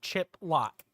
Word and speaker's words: Chiplock: is his name's Shan chiplock and um oh and it spelled like the compound word too chip loock pretty pretty easy um